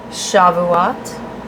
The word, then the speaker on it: Shavuot: And the Jewish celebration that happens in June of Shavuot. maybe. I'm not sure if I'm saying it right. Sorry, guys. It's Shavut.